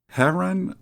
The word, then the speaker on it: heron: Is it heron or heron? Stress on the first syllable.